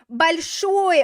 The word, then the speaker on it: большой: Большой. Okay, the stress is on the final syllable, so it's going to stay on the final syllable in the prepositional case as well.